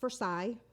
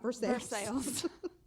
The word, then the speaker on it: Versailles: palace of versailles um in france and it's pronounced versailles not versus that's how i thought you pronounced it at